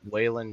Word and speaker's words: Whan: by the way my name is does not have a d on the end it's spelled and sounds like whan Jennings got it my